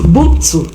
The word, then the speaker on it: Buntu: Say, I pronounce the name well, Bontu. Yeah, I think it's Buntu. Buntu. I did not pronounce the M.